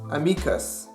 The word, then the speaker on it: amicus: Let's compare this to Latin's amicus. As you can tell, stress on the Latin word is on the second syllable, me.